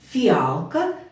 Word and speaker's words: фіалка: м'який млинці фарш фіалка так в другому слові в слові фіалка звук ф м'який діти Ми уже не